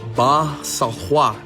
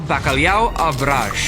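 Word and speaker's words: Bacalhau à Brás: Ronaldo needs no introduction, but his dish definitely does, especially since Speed also messed up the pronunciation. The dish is called Bakalao Araj, and it's one of Portugal's most iconic dishes.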